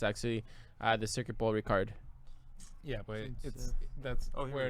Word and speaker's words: Paul Ricard: It's Paul Ricard, Circuit Paul Ricard.